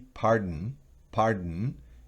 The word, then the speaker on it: pardon: Moon, que significa luna, y pardon es una E muy mínima, no es pardon, sino pardon, casi no, de la D se salta a la N, pero es imposible hacerlo sin esa E pequeñita, pardon.